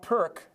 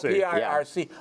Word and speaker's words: Pirc: It's not Perk. I had been saying Perk for decades. Lots of people. Yeah. Because it's spelled P-I-R-C. But the C in Serbian and Croatian is a TS sound, Pirc.